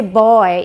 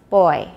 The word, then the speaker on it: boy: of the oy diphthong so don't say boy it's boy boy an american but it's further back and british and a bit longer and british i've noticed